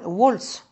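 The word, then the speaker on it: Waltz: Deuxièmement, il y a eu l'affaire Vals, c'est-à-dire Wolz, je prononce à l'américaine.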